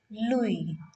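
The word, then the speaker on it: Louis: is py then here Louie Louie last s is completely ignored Louie is the name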